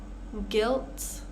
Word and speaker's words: guilt: guide guilt guitar tongue so we can see all of these silent U's are coming after a g so we have this guu pattern um so we're just going to ignore the U and pronounce the next vow colleague here we're just